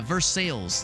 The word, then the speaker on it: Versailles: Yeah, Versailles. Yes, that's how people pronounce it.